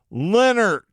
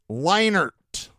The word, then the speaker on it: Leonard: Amanda if you're listening it's Leonard not leinert I swear to God